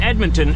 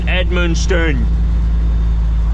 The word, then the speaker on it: Edmundston: Not Edmonton, Edmundston. Close. It's like Edmonton's cousin.